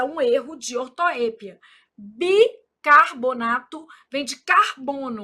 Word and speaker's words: bicarbonato: Bi car. Aí o povo fala carbornato. Não é aqui não, né?